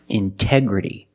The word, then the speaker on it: integrity: release the sound intoxicated Integrity the stresses after the NT in these words so we pronounce a t as a pure T integrity again pronunciation intense